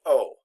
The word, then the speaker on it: au: mandatory contraction produce pronounced Oh now remember a U is always pronounced oh so we can get